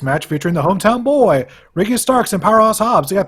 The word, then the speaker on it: Ricky Starks: Or as Dear Mouse tries to call him, Ricky Stocks.